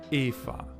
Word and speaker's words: Eva: Ich heiße Eva. E V A. The V in Eva is pronounced like an F.